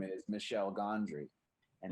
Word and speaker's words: Michel: movie his name is michelle gondry and his name is spelled m-i-c-h-e-l so we came up